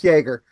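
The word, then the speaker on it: Jaeger: It's pronounced Jagger.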